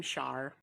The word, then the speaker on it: Char: I'm Char. Okay. See how boring that is? Char. One syllable. My name doesn't even have 2 syllables.